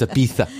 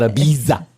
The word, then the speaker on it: Ibiza: It's Ibitha, not Ibiza. It is. It's spelled Ibiza, but it's Ibiza. I can't help but laugh though every time I say Ibitha. I know, it's kind of weird, isn't it? It's like there's no TH in that. TH is silent and replaced with a Z. Z, yeah. It's Catalonian is what it is.